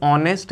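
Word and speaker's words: honest: उसी तरह से देखिए, अगर ऑनेस्ट लिखा गया है, ऑनेस्ट, तो आपको पता है कि इसमें एच साइलेंट होता है, इसको हम क्या प्रोनाउंस करते हैं, ऑनेस्ट, इसको हम कहते हैं ऑनेस्ट।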